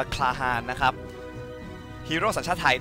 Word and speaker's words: Klahan: อินเตอร์ อินเตอร์ นะ ครับ ก็ น่า จะ อ่าน ว่า คาฮา นะ ครับ ฮีโร่ สัญชาติ